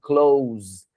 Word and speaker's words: clothes: Ela se escreve assim, é peculiar isso, mas você vai falar assim, close, right?